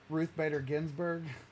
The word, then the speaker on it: Ruth Bader Ginsburg: with someone about um ruth uh radar grimms kinsley grimsley holy you just butchered the out of that how's your names ruth bader ginsburg ginsburg sorry but um talking about